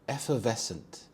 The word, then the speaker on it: effervescent: exit from the party effervescent effervescent here the stress is on the second syllable VES effervescent this describes something or